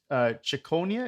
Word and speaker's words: Ciconia: So, who is Johannes Ciconia?